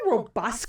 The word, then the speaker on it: robust: Did you just say robust? Yeah, that's how you say it. Nah, Robust. wrong. Robust, like busking, but with roe.